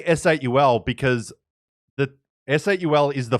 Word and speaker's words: S8UL: So they're like, it's okay if they say S8 or Soul, but we want them to say S8UL.